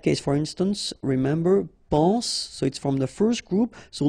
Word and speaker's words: soit: So être will become soit, remember final S is not pronounced, soit.